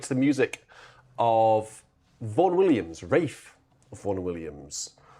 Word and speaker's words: Ralph: Even though it's spelled Ralph, it's definitely a Rafe. Ursula Vaughn Williams wrote it in her book that um Rafe used to cringe when people used to call him Ralph.